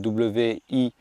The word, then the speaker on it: wijde: Alors je ne connais pas sa prononciation, en tout cas ça s'appelle W-I-J-D-E, donc je dirais wijde en néerlandais, qui veut dire large.